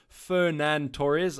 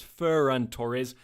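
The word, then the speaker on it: Ferran Torres: favorite there ferand Torres apologies for that pronunciation it's feran Torres so I've Mis pronunciated and butchered that one quite a bit just the memory is kind of REM remember remembering Fernando Torres from Liverpool days so that's why I kind of a little bit biased towards that pronunciation I'm playing my Wild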